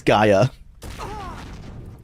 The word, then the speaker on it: Gaia: we've spoken the gram there you go this Gaia oh oh that's how you pronounce it oh hello okay we just start